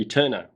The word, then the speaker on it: Æterna: we have here is the we eterna and i think that's how you pronounce it it's where the a and the e form one letter t e r n a and it is another